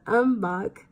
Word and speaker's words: Umbach: after tum tum tum I can't ever say his name Tom Umbach that's why I did is Umbach and I want to say tongue I'm buck anyways dr.